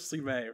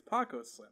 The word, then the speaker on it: Paco Slim: I really thought it was Slime for a long time. Oh. Right, you did? I said that jokingly. Yeah. I did. That's how I pronounced it in my head. But then he was like, it's Paco Slim.